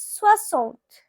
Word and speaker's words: soixante: Now 60, it is pronounced as soixante.